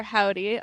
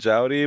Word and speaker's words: Joudy: Obviously, I'm sure you get lots of confusion because it's spelled J O U D Y. Yeah, it's a whole thing. We're used to it to be called Judy, but I'm always like it's like howdy but with a J like spelled